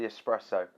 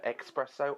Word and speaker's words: espresso: the finish was the espresso like a dark strong espresso how do you say expresso espresso because if you don't say espera so you're wrong so end of argument